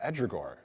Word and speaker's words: Ehdrigohr: So part of your gaming and your focus on tabletop gaming has been in developing and nurturing the project of Ehdrigohr. How do Yes. proper Ehdrigohr, pronunciation?